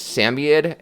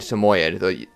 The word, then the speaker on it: Samoyed: is Rosco or um there's actually two ways of pronouncing it it's samed and Samoyed each way is right but um pick or